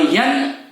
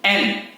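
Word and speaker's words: N: और यन यन नहीं, एन।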